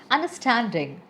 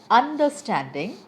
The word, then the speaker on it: understanding: Understanding, superior, realistic, affectionate, transformation. Now you have understood where am I putting stress upon. If I say understanding, I am wrong and the correct way is understanding.